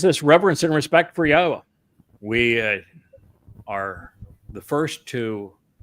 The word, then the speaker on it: Yahweh: So it is this reverence and respect for Yahweh. We are the first to bring uh Yahweh's name, the proper proper pronunciation of it to his people.